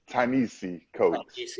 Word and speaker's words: Ta-Nehisi Coates: Ta-Nehisi Coates. How do you say it? Ta-Nehisi Coates.